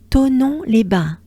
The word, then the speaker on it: Thonon-les-Bains: Next up, at kilometer 42.8, au kilomètre 42,8, they will arrive in Thonon-les-Bains. Once again, don't pay attention to the spelling, because if you are an English speaker, just pretend there's no H in there.